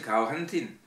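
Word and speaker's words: Kaourentin: Alors, Kaorentin Larour, alors, c'est le héros, a prononcé Kaorentin, en accentuant sur l'avant-dernière syllabe, ou en français Corentin, Kaou pour ses amis bretonnants et Corentin pour ses amis francophones.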